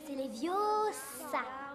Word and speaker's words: Leviosa: d'ailleurs c'est ma part le prononcer leviosa et pas les diots ça fais le toi